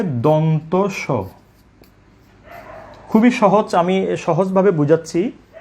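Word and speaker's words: দন্ত্য স: তারপরে এই বর্ণটিকে বলে থাকেন দন্তিয়াস। যেভাবে দন্তিয়ানো বলে, একইভাবে ভুল উচ্চারণ হিসেবে দন্তিয়াস অনেকে বলে থাকেন। তাহলে আমরা একটু আগে শিখেছি, এখানে দুটি বর্ণের কিন্তু উচ্চারণ আমরা শিখে নিয়েছি, যে এটাকে বলবো মূর্ধন্য স, মূর্ধন্য ন, মূর্ধন্য স, মূর্ধন্য স। আর এটির নাম হবে দন্ত স।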